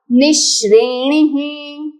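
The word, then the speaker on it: निश्रेणिः: तो विसर्ग भी है तो उसका उच्चारण होगा निश्रेणह निश्रेण ही उत्तम आगे के शब्द नपुंसकलिंग है।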